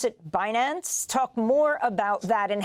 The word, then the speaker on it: Binance: You pronounce it Binance.